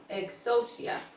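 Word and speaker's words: ἐξουσία: está en la pantalla y se pronuncia exousia exia Mateo ya estamos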